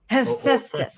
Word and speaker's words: Hephaestus: Some people pronounce it Hephaestus. Hephaestus, thank you.